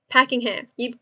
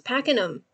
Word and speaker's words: Pakenham: Packingham. Packenham. No, it's Pakenham. It is Pakenham. Like I'm packing them.